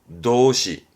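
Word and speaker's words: 動詞: 동사 도시.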